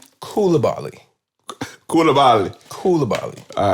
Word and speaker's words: Koulibaly: I believe it's pronounced Koulibaly.